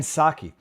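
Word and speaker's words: Psaki: her name and then I was told it's a silent P so I'll just I'll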